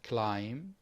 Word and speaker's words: climb: am in debt yes pronunciation silent letters we have logically we have climb we have muscle we have wednesday we have make come